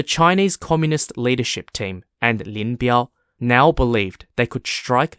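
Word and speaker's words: Lin Biao: forces in the Northeast were led by General Lin bial Lynn bial spelled l-i-n-b-i-a-o and under the command of Linville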